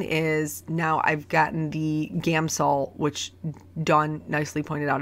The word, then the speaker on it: Gamsol: the us it's just gamsol I always want to say Gamma Saul gamo so anyway that's wrong there's no vowel in there so anyway using a